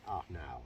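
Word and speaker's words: Arnaut: now or yes but obviously in in his language it was spelt and pronounced ah now and have those poem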